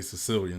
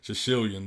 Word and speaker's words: Shishilian: I like to say Sicilian. This is easier, but Shishilian is that's how it's pronounced.